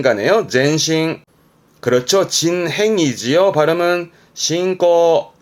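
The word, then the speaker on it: 進行: 나아갈 진짜 전진의 진 진행의 진짜예요 요게 전진이 발음은 젠신 젠신 음모는 싱 가네요 젠신 그렇죠 진행이지만 싱꼬 싱꼬 그렇죠 진출 신트 신트 그렇죠 진학 신가 그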